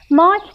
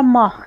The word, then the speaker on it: Mach: دو ماک حرکت کنیم ماک تلفظ امریکایی واحد سرعت صوت است آلمانی‌ها آن را ماخ می‌گویند این کتاب چنین کاری